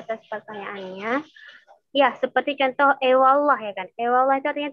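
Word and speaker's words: eyvallah: Tapi W-nya itu lembut, hampir terucap ke huruf W misalnya. Ewallah. Jadi nggak nampak P, nggak nampak W. Ewallah, ya kan? Antara keduanya. Ewallah.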